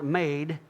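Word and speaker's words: מד: The word for garment here is Strong's number 4055, mem dalet, pronounced made, but it can also mean armor, judgment, and stature.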